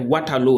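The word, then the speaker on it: Waterloo: is the University of watero watero is spelled w a t e r l o o sorry not o but double O all right water low like water and low low is l o o this is the first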